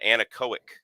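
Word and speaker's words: Anechoic: so um now I have an anaco that's how you pronounce it a NE c h o i c and aoic suppressor and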